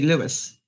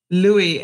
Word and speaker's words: Louis: because in the States, they're inclined to say Lewis, as in Louis. But, really, it's Louis, I think, as in Louis the 15th, right? It's from the French. So we don't pronounce the S.